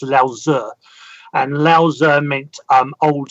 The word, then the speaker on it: Lao Tzu: Well, in Taoism, there was actually a book by a lot of people would see the name as Lao Tzu's, Laotze, but it's actually pronounced Lao Tzu.